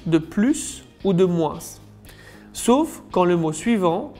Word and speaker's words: moins: En général, dans une comparaison, on ne prononce pas le S de plus ou de moins, sauf quand le mot suivant commence par une voyelle. D'ailleurs, la prononciation sera Z. Plus beau que, plus intéressant, moins grand que, moins ouvert.